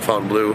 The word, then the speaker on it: Fontainebleau: guys in front of the Fontaine Blue the fountain blue some people pronounce it one way I pronounce it Fountain Blue that's basically uh the